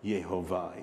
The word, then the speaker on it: Jehovah: The Jehovah, Yehovah, Yehovah is how it pronounces in Hebrew.